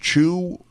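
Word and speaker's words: Chwe: Right, and I might add that your colleague also teaches is his name pronounced Chu?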